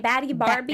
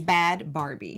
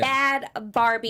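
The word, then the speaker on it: Bhad Barbie: How do you say her name? Bhadie Barbie? It's Bad Barbie. Yeah. Bad Barbie.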